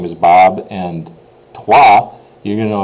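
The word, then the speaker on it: trois: a sentence like my name is Bob and twah you're going to know it's going to be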